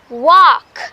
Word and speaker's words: walk: هذو زوج الكلمات talk walk بزاف الناس ينطقوهم بالال and that is wrong يا ليكيب. ال نحيوها خلاص نساوها. We say talk walk. I wanna talk. I wanna walk. الال ما نطقوهاش.